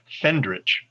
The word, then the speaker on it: Fendrich: i'm sorry it is i mispronounced your name because i miswrote it it is fendrich is fendrich uh again the next